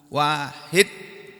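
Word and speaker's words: واحد: sesembahan kalian adalah ilahun wahidun Tuhan yang satu Tuhan sesembahan yang hanya satu Wahid tulisannya wahidun membacanya Wahid orang Arab kalau menghitung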